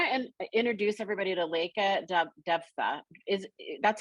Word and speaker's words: Devatha: But I want to introduce everybody to Leka Devatha. That's how you pronounce it, right? Hi, it's Devatha. Devatha.